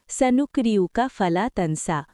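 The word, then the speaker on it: سنقرئك فلا تنسى: আরবি সানুকরিকা ফালাতানসা উচ্চারণ সানুকরিউকা ফালাতানসা অর্থ আমি তোমাকে পড়াবো ফলে তুমি আর ভুলবে না।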